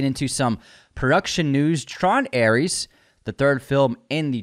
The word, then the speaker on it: Ares: And I believe, actually, I've been saying it wrong. You're supposed to call it Tron Ares. Ares.